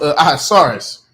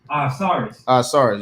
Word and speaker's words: Ahasuerus: His name is it's pronounced Ahasuerus. Ahasuerus, yeah.